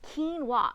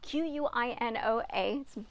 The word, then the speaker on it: quinoa: it's more like a fluffy grain so it's quinoa q-u-i-n-o-a it's one of those things that are mispronounced all the time again quinoa and so